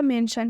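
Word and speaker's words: mention: श बनेगा ठीक है तो ये जो आई है ये अ का रोल प्ले कर रहा है और ये जो टी है वो आधा श का रोल प्ले कर रहा है जब हम दोनों दोनों को साथ में जोड़ेंगे तो यह पूरा श बनेगा ठीक है जब हम दोनों को साथ में जोड़ेंगे तो यह पूरा श बनता है तो इसलिए यहां पर लिखा हुआ है मेंशन मेंशन मतलब होता है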